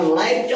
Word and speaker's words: live: এটার উচ্চারণ হবে লাইভ।